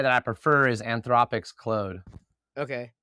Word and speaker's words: Claude: I prefer is Anthropic's Claude. Okay. Claude. My French friend said I was saying it wrong, so hopefully I'm saying it right now.